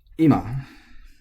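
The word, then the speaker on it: 今: some more words so Ima is supposed to be accented Hilo IMA but as I've talked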